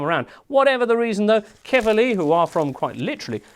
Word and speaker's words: Quevilly: Spelt like that, but it's pronounced Quevilly, a bit like Stefan Kuntz.